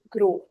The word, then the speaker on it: gros: If you follow your pronunciation rules, you know at the end consonants are not pronounced. They have to be till vowel. So it will be gros.